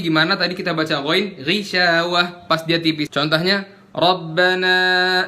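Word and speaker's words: غِشَاوَة: sam'ihim wa ala absarihim Ghishawah tipis, bukan ghishawah. Mentang-mentang gha dibacanya u. Jadi kalau misal kasroh dia jadi tipis, dibaca gimana? Ghishawah. Dengar ya? Ghishawah. Makhrajnya masih sama, nggak mengubah dia jadi gishawah atau ghishawah.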